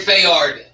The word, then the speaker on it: Fayard: vo today I'm going to let him say his name hey do in my name is Fayard say it like front yard front yard it took me like two weeks it doesn't run with mrs.